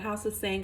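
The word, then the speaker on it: House of Tsang: it, hope not, but House of Sang. I think the T is silent.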